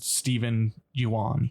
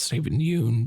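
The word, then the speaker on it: Steven Yeun: So the spoiler section, I think, is Gordy and Stephen Yuan. Did I say his name right? How do I say his name? It's Stephen Yeun, but Stephen. Oscar nominee Stephen Yeun.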